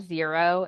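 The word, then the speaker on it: Xero: um for business finances we love zero it's spelled x e r o um it's not necessarily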